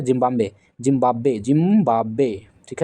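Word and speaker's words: Zimbabwe: जो है जिंबाब्वे जिंबाब्वे जिंबाब्वे ठीक है इसका उच्चारण सही कीजिएगा जिंबाब्वे जिंबाब्वे नहीं जिंबाब्वे तो ये हो गया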